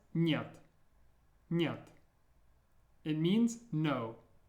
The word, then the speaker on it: нет: This was pronounced нет, нет.